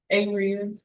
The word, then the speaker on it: Area: Area. Area? The emphasis is on the second uh part of your name.